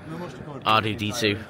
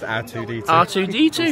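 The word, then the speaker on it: R2-D2: RDD2. I know RDD2. But that's by... You said his name wrong. It's R2D2. Said R2.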